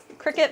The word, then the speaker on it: Cricut: at this thing yeah because I was thinking you just spelled like Cricket yeah yeah yeah just spell like a cricket you can get used